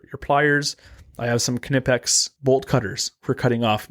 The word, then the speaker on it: Knipex: shirts that said it's knipex because that's how they pronounce it in that language so it's actually knipex so you're right yeah and if you pronounce it nipex sorry but or neex